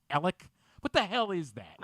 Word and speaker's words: Alex: what what is that the guy's name is Alex and it's Alec somehow like I'm supposed to believe that a-l-e-x is pronounced Alec what the hell is